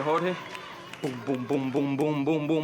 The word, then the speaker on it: Jorge: Heard him saying my name and how you supposed to say it, Jorge.